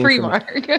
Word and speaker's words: Primark: I think it's technically Primark you said Primark in the video though which is what we call Philadelphia we call it prar listen everyone pronounces it differently but I think technically it's Primark so Primark is really